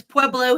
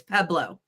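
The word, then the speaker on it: Pueblo: uh of course peo nobody says peblo here it's peblo pronunciation in Colorado R hoop um but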